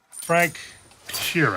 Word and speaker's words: Sheeran: Frank Sheeran.